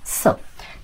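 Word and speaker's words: つ: সু এখন কথা হলো টি এর পরে এস থাকলে কিন্তু এই টি এর উচ্চারণ হয় না যেমন সুনামি সুনামির ক্ষেত্রে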